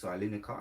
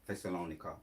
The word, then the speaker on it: Thessalonica: It's going to go on to to explain or Thessalonica. That's the word. That's how you say it. Thessalonica.